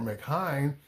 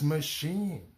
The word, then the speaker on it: machine: Sometimes it sounds like the letter E as in machine. I ne at the end. Instead of it being machine or mckine, it's machine.